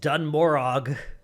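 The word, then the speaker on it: Dun Morogh: my list I've picked dun morog or dun Moro depending on how you pronounce it I've heard both ways uh this is the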